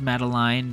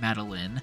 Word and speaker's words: Madeline: meeting Madeline and yes her name is pronounced Madeline not Madeline in passing we learned